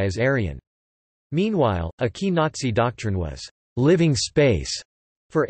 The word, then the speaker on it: Nazi: The National Socialist German Workers' Party, or Nazi, pronounced as Nazi in English, were devoted to what